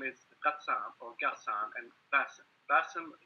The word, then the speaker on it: Ghassan: Look, sorry, but you've got to get the pronunciation right. My name is Ghassan or Ghassan and Bassem.